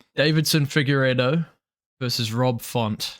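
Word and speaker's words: Deiveson: Davidson Figueiredo versus Rob Font. You say Davidson. Davison.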